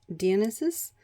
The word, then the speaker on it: Dionysus: This one was Dionysus, or I guess if you wanted to try to pronounce it Greek, you could say Dionysus, or something along those lines.